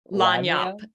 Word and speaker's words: lagniappe: And then the 10%, which Nick, since I told you once, can you pronounce that word for me? I don't even want to try. Lagniappe? Lagniappe.